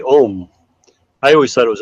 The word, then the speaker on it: Om: When I was in India, I was taught the proper way to say Om. I always thought it was Om, and they said, "Oh no!